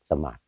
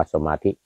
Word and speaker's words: สมาธิ: นั่ง ขัด สมาส นะ แต่ เวลา เขียน นี่ เขียน เป็น สมาธิ นะ อ เขียน เป็น สมาธิ แต่ เวลา ออก เสียง ออก เสียง ว่า สมาส อืม นั่ง ขัด สมาส คือ นั่ง ขัด สมาธิ ไม่ ออก ไม่ ออก ว่า สมาธิ อ่า ก็ คือ นั่ง